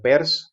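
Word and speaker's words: Peirce: jets por ejemplo y pierce o pers que se pronuncia pues caracterizarán lo que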